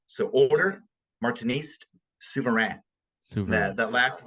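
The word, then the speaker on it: Martiniste: The final S is silent in French. So Order Martinist Souverain.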